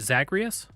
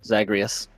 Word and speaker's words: Zagreus: packs of punishment upon is it zagreus yeah that's that's how I've always pronounced it zagreus that increased the difficulty